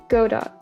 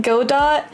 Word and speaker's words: Godot: So I keep saying Godot, and I've heard other people say it before, but my engineer, he gets really mad when I mispronounce it. So I guess it's Godot.